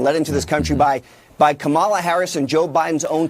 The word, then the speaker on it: Kamala: Oh, yeah, this 16,000 rapists, 425,000 people in the last 4 years have been let into this country by Kamala Harris and Joe Biden's own Customs and Border Protection that are running around this country, Jim.